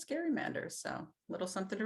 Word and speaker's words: gerrymander: um by the way he's pronouncing gerrymander correctly uh most people say gerrymander but technically it's scary Manders so a little something